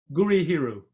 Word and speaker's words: Gurihiru: How do you pronounce it? Gurihiru.